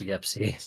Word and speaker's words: Yepsy: Wait, oh, Pep is in the chat and Yipsy. What up? Yes. Notorious Titan player, Yepsy. sorry, He likes for it to be pronounced Yepsy.